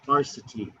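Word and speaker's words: Arcite: In the Forvo, it's Arcity.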